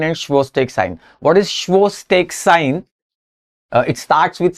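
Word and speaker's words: Chvostek: signs Tru sign and schak sign what is schak sign it starts with C but it's pronounced as schak sign uh tapping over the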